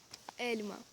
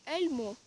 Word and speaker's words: elma: в нас це буде Ельма Ельма Ельма не горить ельмо ельмо це неправильно Ельма або Ельма Ельма